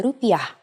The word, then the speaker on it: rupiah: in Indonesian in Indonesia the currency is the rupiah please pay attention to this word pronunciation rupiah Let's try to say prices in